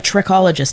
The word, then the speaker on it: trichologist: So, why don't you tell us my first question is what exactly is a tririccologist? Did I pronounce that correctly?